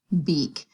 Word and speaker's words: beak: The E will say its name, and that A is silent. The word is b-eek, beak, and we have the long E sound.